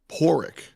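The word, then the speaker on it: Pádraig: Yeah, like if you've ever read the name Padraic, can wipe my pronunciation with Raic. It's actually just Porrick.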